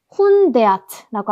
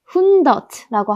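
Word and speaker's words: hundert: 근데 우리가 에야가 원래는 에야 소리가 나지만 단어의 맨 뒤에 있을 경우에는 더 줄여서 어랑 아 사이에 소리가 난다고 했습니다. 그래서 훈데아트라고 하셔도 되고 훈더트라고 하셔도 됩니다. 훈데아트 아니면 훈더트.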